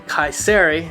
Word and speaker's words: Kayseri: We are in Kayseri, that's how we learn how to pronounce it.